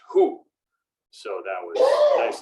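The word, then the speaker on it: הוא: try to remember because the pronoun for him or he when it shows up is pronounced who so that was a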